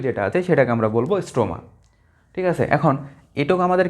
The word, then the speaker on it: স্ট্রোমা: Liquid থাকে বা তরল থাকে সেটাকে আমরা বলি স্ট্রোমা। এইযে দেখ এইযে এগুলা এগুলা। এরকম যে তরলগুলো থাকে টোটাল পাশের ভিতরে সেগুললাকে আমরা বলি কি? এগুলাকে বলা হয় স্ট্রোমা। স্ট্রোমা। নট স্ট্রোমা। স্ট্রোমা হবে এটা।